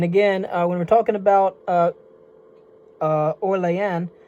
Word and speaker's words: Orléans: And again, when we're talking about Orléans, that's really the way that New Orleans in the city of New Orleans in Louisiana is actually supposed to be pronounced. A lot of people here say they say New Orleans, but actually it's New Orleans because it's French.